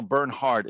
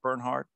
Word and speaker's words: Bernhardt: speaking today to uh daniel bernhardt is that the right way to say it bernhard perfect bernhard yeah very good who